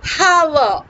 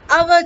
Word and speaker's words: hour: with vowel sounds and words beginning with a silent H. For example, an ass, an umpire, an egg, an hour. It's not hour, it is our children.